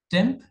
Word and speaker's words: tmp: Temp is a scratch directory where you can use that to store TMP. It's pronounced as temp, but it's TMP in short.